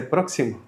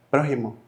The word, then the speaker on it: prójimo: es próximo en Tabasco eso es muy simple que en Tabasco te dicen próximo y allá hablamos griego desde hace muchísimo porque ayer no se dice próximo tú sabes cómo se dice prójimo el prójimo entonces dice prójimo Entonces eso ya está